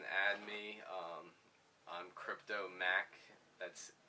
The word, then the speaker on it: Maak: to me and uh how they pronounce my name instead of Mark they say mac and uh kind of